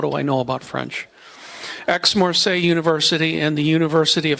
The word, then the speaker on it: Aix-Marseille: Yesterday I pronounced it, it's spelled A-I-X. I thought it was I. What do I know about French? Aix-Marseille University and the University of Hamburg brings his